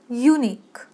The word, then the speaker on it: unique: तर जेव्हा तुम्ही हा शब्द उच्चारता तर तेव्हा यू तुम्ही कसं म्हणता? यू त्याच्यामध्ये य येतो म्हणजे वाय येतो, त्या उच्चारामध्ये वाय येतो आणि वाय हा एक कॉन्सोनंट आहे.